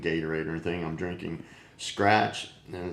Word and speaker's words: Skratch: I'm drinking Skratch, and it's SK, Skratch, spelled like scratch, but with a K.